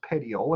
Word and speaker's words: petiole: petiole is the leaf stem right here it's pronounced petiole and then finally the center portion here is